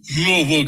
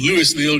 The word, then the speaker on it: Louisville: And Louisville, Kentucky, and Louisville, Georgia. We got to see those. There's different pronunciations.